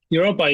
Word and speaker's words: Europa: Santiago, you've been in a couple projects, Imaginary Colors, and I don't know how to pronounce it. Is that Europa? Europa, yeah.